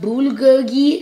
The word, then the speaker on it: bulgogi: basically the protein plate we got some it's pronounced bulgogi it's a type of meat and we got